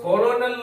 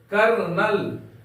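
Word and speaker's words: colonel: एल ओ एनई एल इसको हम लोग कोलोनल नहीं पढ़ेंगे पढ़ेंगे इसका उच्चारण क्या है कर्नल कर्नल पढ़ेंगे हम लोग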